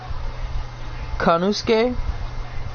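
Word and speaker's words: Konosuke: He said it's like Shinsuke, so it's Kanusuke, I think.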